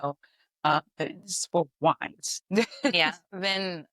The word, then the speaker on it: vin: Vin Von is how they say it in French.